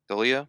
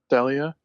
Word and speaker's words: Delia: they're holding but uh deia is that how it's pronounced deah who the mom oh um Delia Delia uh as said she's